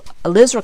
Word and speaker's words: alizarin: red and use a cooler of the ELISA alizarin crimson that's how you pronounce it so I have alizarin crimson I'm